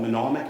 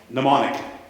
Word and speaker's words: mnemonic: for you I think it's called monomic or I can never pronounce that word is that the yeah yeah say it again mnemonic there we go so I've already talked